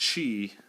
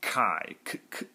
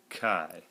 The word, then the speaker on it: chi: and yeah again it's it looks like it's pronounced Chi but it's actually pronounced Kai Kai so I'm going to